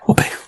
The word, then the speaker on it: Volpe: Did I say that right? Your last name again? Yeah. Volpe. Ah. Good job. Most people don't say it right.